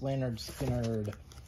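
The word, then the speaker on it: Lynyrd Skynyrd: um 180 g uh second helping by skard pronounce leanard skinnard and this one is live from Jacksonville all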